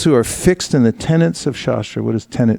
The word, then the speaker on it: tenet: But I didn't say tenant, I said tenet. tenet.